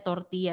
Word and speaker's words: tortilla: torti yaitu apa Oke torti yaitu tulisannya tortilla Kalian pasti butuh tortilla tapi dibacanya torti ada belel itu dibaca y ini sama intinya tuh